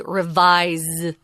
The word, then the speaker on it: revise: is the verb and even though it's spelled with an S we actually say revise with a Z and then the